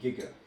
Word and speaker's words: giga: and then another three steps up would be gigger it is pronounced gigger not all right and it is capital letters